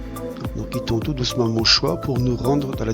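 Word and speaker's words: Montgesoye: Donc nous allons quitter tout doucement Montchoix. Ça s'écrit Montjezoy, donc c'est une drôle de prononciation. Donc jusqu'à maintenant c'est encore assez plat, la circulation est encore assez facile. Donc, nous quittons tout doucement Montchoix pour nous rendre dans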